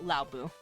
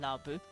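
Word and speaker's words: Laobo: So, Laobu. Which technically is spelled L-A-O-B-O, but they pronounce it Laobu. Laobu.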